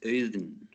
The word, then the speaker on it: Auðn: yeah it's uh it's eden yeah so yeah the when you put the a and u together in icelandic it becomes like a new uh uh and